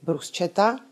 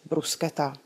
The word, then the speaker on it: bruschetta: Stejně tak italská topinka není bruschetta, nýbrž bruschetta.